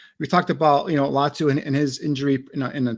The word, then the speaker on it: Latu: is the UCLA defensive end Edge rusher latu latu I pronounced that correctly I believe so yeah did